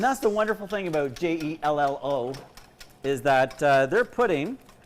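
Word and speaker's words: Jell-O: to celebrate your glorious j-e-l-l-o it's a company that rhymes with hello it rhymes with mellow it's called jello jello but you can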